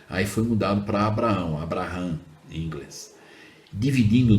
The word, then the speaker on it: Abraham: Se escreve dessa forma, aí foi mudado para Abraão, Abraham em inglês.